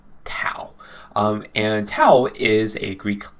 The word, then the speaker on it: tau: kick in its step right and then we pronounce it as t a u tau and tau is a greek letter okay so